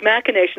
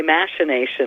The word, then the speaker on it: machination: heart C but yet it's machination and so many people say machination nowadays yeah alright thank you